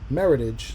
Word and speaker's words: Meritage: eighty dollars a pop it's actually pronounced meritage like heritage except i didn't know